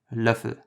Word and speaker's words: Löffel: The closest in English that I can come up with for this is the sound in certain or learn. Try to say it without the hint of the R that's in there.